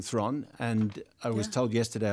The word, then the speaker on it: Theron: But they said now it rhymes with heron. And I'm thinking, well, last time I spoke to you, which you won't remember, but I remember very well you said Theron. Listen. So rhymes with prawn.